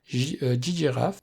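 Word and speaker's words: ggraph: donc pour l'analyse de réseau et on a ggiraf parce que c'est comme ça qu' dit qu'il faut le prononcer qui est là en fait pour nous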